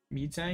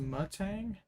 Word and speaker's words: Metang: Meetang, it's pronounced Mutang.